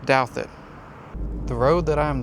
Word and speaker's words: Douthat: I almost missed this in the movie because the way they pronounced this in the movie, they said Duthat. Now, this long book contains records from St. Gertrude's Asylum up by Duthat Lake. That's 5 miles north from here. This is pronounced Douthat.